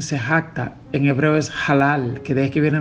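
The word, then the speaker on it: הלל: Es decir, la palabra que usa ahí en se jacta, en hebreo es halal, que de ahí que viene la palabra aleluya. Halal, ja. Esa palabra halal, ha, se pronuncia halal, yahoh, y de ahí viene aleluya, aleluya, que significa alabanza a Jehová.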